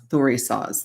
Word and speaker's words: Thurisaz: Thurisaz. Thank you for the pronunciation.